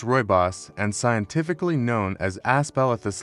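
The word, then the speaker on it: Rooibos: Ruios pronounced Royos and scientifically known as aspelithus linearis translates to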